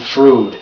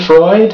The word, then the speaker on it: Freud: I stamped my foot I don't know how to pronounce Sigmund frood it's not my birthday but why would it say that on the calendar don't you know it's your birthday Sigmund Freud Frank pronounced it correctly very slowly I am NOT Sigmund